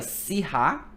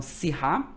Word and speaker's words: Syrah: Se pronuncia Syrah, ok? O H aqui como se fosse mudo e um acento agudo no A. Então Syrah, que é a grafia mais utilizada, que é a grafia francesa.